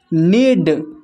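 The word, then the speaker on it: knead: नीड, इसमें भी के साइलेंट है।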